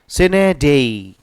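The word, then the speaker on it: sine die: अगला वर्ड है सिने सिने डे असल में डाई होता है लेकिन डी इसे बोला जाता है इस लैंग्वेज के प्रोनाउंस नेडे चने डाई नहीं बोला जाता यहां पर इसको सिने डेई सिने डेई का मतलब हो जाता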